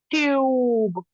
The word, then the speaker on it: tube: बट इफ आई go here like E, another vowel is added, what happens, e goes like silent and u goes long, tube, ट्यूब, there are many